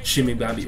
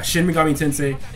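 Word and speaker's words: Shin Megami Tensei: 5 Persona 5 Royal shim tensei shimi why did I pronounce it like that but anyway yeah shim Mami tensei and instead you just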